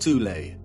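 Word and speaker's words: Thule: society within Germany called the th Society sometimes alternatively pronounced tulle that had subactions within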